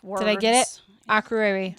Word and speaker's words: Akureyri: Akureyri. We don't know how to pronounce any of the Icelandic words. Did I get it? Akureyri.